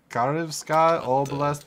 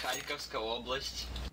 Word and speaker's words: Kharkivska Oblast: Karivska Oblast Ukraine. That's terrible pronunciation, probably. It's Kharkivska Oblast.